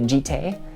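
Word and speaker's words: Jitte: And those are Batterskull, Umezawa's Jite, that is how you pronounce it, Jite, Umezawa's Jite, or Skull Clamp.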